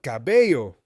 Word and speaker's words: cabello: Also remember, the yo sound in English is often spelled LLO in Spanish. So in the word cabello, the ending yo sound is spelled with LLO.